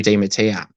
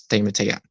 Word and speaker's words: Di Mattia: Harry Di Mattia. Not something else, it's Di Mattia.